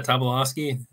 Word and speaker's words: Tobolowsky: Did I pronounce it properly? Yeah, Tobolowsky.